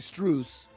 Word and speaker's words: Strus: Like you said, Max Strawson says actually Struse and then forever everyone always, oh, it's Max Strus.